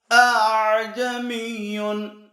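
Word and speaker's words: ءَأَعْجَمِيٌّ: என்று வரக்கூடிய அந்த வார்த்தையை இரண்டு ஹம்ஸாக்களிலே இரண்டாவது ஹம்ஸாவை லேசாக ஆக்க வேண்டும் எப்படி அ என்று சொல் அழுத்தமாக தக்தீர் ஓதக்கூடிய அந்த இதை தஸ்ஹீல் லேசாக சொல்ல வேண்டும் முதலாவது ஹம்ஸாவை அழுத்தமாக சரியாக உச்சரிக்க வேண்டும் இரண்டாவது ஹம்ஸாவை லேசாக எப்படி அஜமியுன் அஜமியுன் என்று சொல்லக்கூடாது அஜமியுன் அஜமியுன் என்று இப்படித்தான் ஓத வேண்டும் எல்லாருமே இந்த ஹப்ஸ் ரிவாயத்தின்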